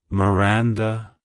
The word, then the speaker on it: Miranda: It's pronounced as Miranda Miranda Miranda to pronounce it correctly emphasize the second syllable ran and use a soft uh sound at the end avoid stressing the first syllable too much like hello Miranda goodbye